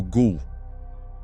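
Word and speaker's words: غول: O termo que deu origem à palavra gul do inglês vem do árabe gul, pronunciado algo como gou.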